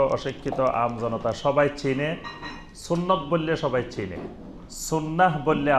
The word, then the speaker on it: সুন্নাহ: সুন্নত বললে সবাই চিনে, সুন্নাহ বললে আবার অনেকে নাও চিনতে পারে সাধারণ মানুষ। তো এই জন্য বেশি পরিচিত আমাদের দেশে সুন্নত নামে, কিন্তু এটা শুদ্ধ আরবি উচ্চারণ হলো সুন্নাহ। সুন্নাহ মানে হলো তরিকা, সুন্নাহ